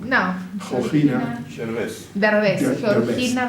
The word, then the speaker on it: Derbez: We're going to premiere a clarinet concerto by Georgina de Brest. How do you say? I don't mean to say their name wrong. No. Georgina Derbez. Georgina Derbez.